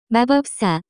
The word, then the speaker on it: 마법사: cuteness 마법사 equal 위치 The pronunciation of this word is closer to 마법사 Notes 마법사 Generally refers to any being that performs magic.